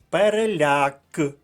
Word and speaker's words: переляк: склад решато наступне слово переляк наголос на останньому складі це третій склад а